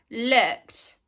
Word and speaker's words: looked: We write ed, looked.